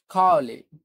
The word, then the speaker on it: Cawley: খাওয়ালি, CAWLEY। সো ডাব্লিউ কে ওরা ডব্লিউ এরকম করে সামটাইমস একটু উচ্চারণ করে।